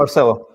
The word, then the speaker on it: Marcelo: Now, first up, again, did I pronounce it correctly, Marcelo, or is it Marcello? Marcelo.